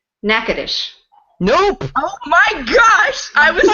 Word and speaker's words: Natchitoches: Some people make a joke and say nasty toe cheese. Gross. That's funny. Okay, so it's one of those. It's a kind of a Cajun French. Wow. Natchitoches.